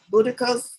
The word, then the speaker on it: Boudica's: Boudica's, that's how I say her name, Boudica's anger was almighty and her retribution ferocious.